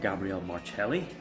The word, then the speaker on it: Gabriel Marcelli: so um maybe that speaks for itself um Gabrielle marelli it's the correct pronunciation um round one four marks round two